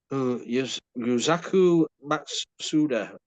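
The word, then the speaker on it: Yusaku Matsuda: Yuzaku Matsuda, I think, is how you pronounce it.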